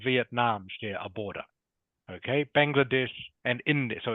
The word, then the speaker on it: Bangladesh: this one here yeah correct so it is pronounced Bangladesh okay can you say that please kangan Bangladesh